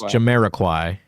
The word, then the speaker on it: Jamiroquai: Very close. It's Jamiroquai. You're forgetting it. You dropped a syllable.